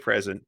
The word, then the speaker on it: present: You're a good present. You're fun to unwrap. Oh, my fluff. And that's interesting because that's one of those, if you put the emphasis on the wrong syllable, it's a totally different thing.